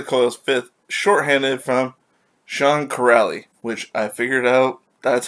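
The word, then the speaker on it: Kuraly: and third charlie coyle's fifth shorthanded from sean corrally which i figured out that's how you pronounce crowley's last name i was saying curly or something like that before is corrally sorry about that all right so that's all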